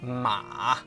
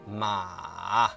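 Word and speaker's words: 马: When pronounced in isolation, it starts at a mid-level pitch, drops to a low point, and then rises slightly at the end.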